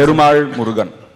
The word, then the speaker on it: Perumal Murugan: How do you pronounce it? Perumal Murugan.